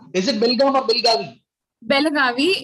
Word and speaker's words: Belagavi: Belagavi. It was known as Belgaum, but then it was renamed recently, said Belagavi. So we still pronounce it. Some people pronounce it as Belgaum, and we write it formally as Belagavi.